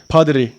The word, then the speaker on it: Pottery: arkadaşlar bu videomuzda sizlere Let's create padri diye okunuyor çömlek yani Hadi hep